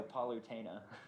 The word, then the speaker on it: Palutena: poena she looks badass is that how you pronounce it palutena yeah paluta sh animated no palutena that only means something to you and all